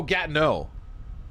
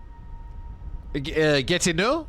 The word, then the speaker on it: Gatineau: Oh, Gatineau.